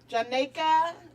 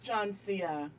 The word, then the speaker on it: JONCEA: Janika, Janisa, JONCEA. I'll be like, JONCEA. Look. I'm 5 years old. It's JONCEA.